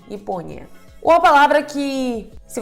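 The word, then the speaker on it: Япония: A sílaba tônica é po. Japônia se lê como Ipônia, Ipônia.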